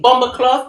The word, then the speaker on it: BomBoKloth: Bomber cloth.